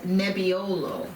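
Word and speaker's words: nebbiolo: Variety in this case the variety is called neolo oh wow how do you spell it NE EB b i o l o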